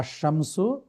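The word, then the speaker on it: الشمس: এটা আপনার জি জি সহজভাবে আরেকটু মনে রাখার বুদ্ধি হলো আশামসু আল কমারু। আশামসুতে জি দেখেন জি লাম এখানে উচ্চারণ হচ্ছে না, সরাসরি আলিফ শিনকে যে ধরতেছে।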